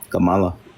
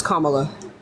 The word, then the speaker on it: Kamala: mean what about uh Kamala that's not how you pronounce her name it's Kamala well that's not how you